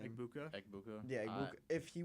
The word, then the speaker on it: Egbuka: My main question, I was just, would Green Bay have taken Mbuka, is that how you pronounce his name? Egbuka.